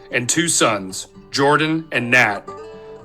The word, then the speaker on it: Nat: two sons Jordan and Nat the latter's name often pronounced as Nate Nat love the youngest